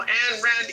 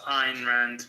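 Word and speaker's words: Ayn Rand: And that's all that we also have our local an Rand atheist and overall super boring guy Simon. It's actually pronounced Ein Rand, but okay, that's correct.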